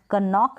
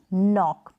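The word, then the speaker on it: knock: क नाइट नहीं निट और क नॉक नहीं नॉक तो इस तरीके से जो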